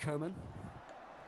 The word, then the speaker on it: Coman: I'm like, But no, it it's is Coman. pronounced- It is pronounced like that in French. It's Kingsley Coman.